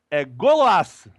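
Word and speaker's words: Gauloises: Aí você tinha uma Yamaha e só pra constar, caros amigos, eu tava até colando aqui no chat, a pronúncia correta da marca de cigarro é Gauloise, tá?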